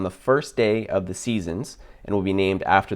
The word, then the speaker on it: SZNZ: bigger project seasons um seasons is spelled sznz or for you americans